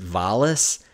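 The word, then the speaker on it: Walas: nailed that in chris chris wallace i've heard his name like pronounced vollis uh the makeup effects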